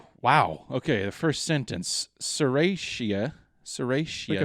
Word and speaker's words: Serratia: dispersed uh oh gosh here we go oh serratia serratia that sounds right i'm sure i'm butchering